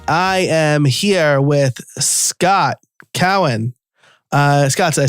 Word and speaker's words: Cowan: All right, I am here with Scott Cowan.